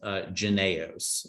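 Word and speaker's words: JYNNEOS: The first is janaeos, and that is how that is pronounced.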